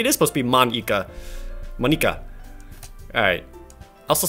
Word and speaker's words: Monika: Monika. That's not how you say my name at all. Also, that joke makes no sense in translation. Maybe it is supposed to be Monika.